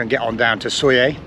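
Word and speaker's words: Sóller: So we're going to weigh anchor and get on down to Soyer. Soyer is spelt Solar, S-O-L-L-E-R, but I think it's pronounced Soyer.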